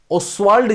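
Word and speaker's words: Ostwald: ओस्वाल्ड जिसको बोलते हैं, यहां पे टी साइलेंट है, टी जो है वो साइलेंट है।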